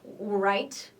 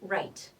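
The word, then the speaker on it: write: wrote same thing here the W is silent okay we do not say right okay so it's right wrote okay no new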